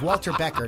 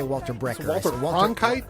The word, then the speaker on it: Walter Becker: I know nobody listens Walter Becker that's I said right I didn't say Walter Breer Walter kronite Walter kite